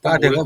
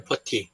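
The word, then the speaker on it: putty: 빠데가 원래는 퍼티잖아요, 퍼티. 퍼티? 예, 원래가 퍼티인데, 예, 근데 사람들이 빠데 그러더라고요.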